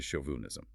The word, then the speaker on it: chauvinism: The show sounds like sh leading to chauvinism. Ah, so the mistake is pronouncing the shoes as in church.